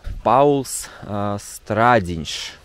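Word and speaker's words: Pauls Stradiņš: в 40-е годы это паулс страдиньш наверное так правильного надо произносить Я знаю что здесь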